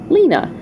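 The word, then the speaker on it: Lina: It's spelled L-I-N-A, Lena.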